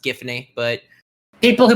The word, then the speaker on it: Giffany: it's like and the actual gravity falls it's pronounced giffany but people who pronounced it jiff or some